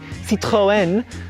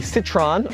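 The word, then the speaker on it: Citroën: have really corrected me apparently the french say citroen here in america we say citron in the uk they say citron however you want to pronounce it it is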